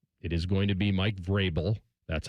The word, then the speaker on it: Vrabel: It is going to be Mike Vrabel." That's how you pronounce it.